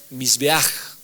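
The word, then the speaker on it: מזבח: altar esta palabra altar en el hebreo se pronuncia mis beaj ya pero como el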